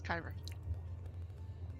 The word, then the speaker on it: Cairo: His name is Cairo. Rhymes with pyro.